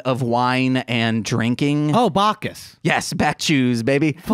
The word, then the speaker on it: Bacchus: what is the chalice of back juice Oh back choose I'm know I'm saying his name wrong he was the Chewbacca the god of wine and drinking ho Bacchus yes back choose baby theater so [